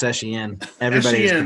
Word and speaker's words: Etienne: And It's then actually pronounced Etienne.